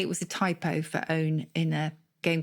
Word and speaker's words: pwn: So famously, there's a word which is pronounced like own, but it's spelled PWN.